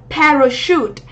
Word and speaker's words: parachute: Parachute. Parachute thì trọng âm của chúng ta sẽ rơi vào trọng âm 1 này. Và âm này là âm sure.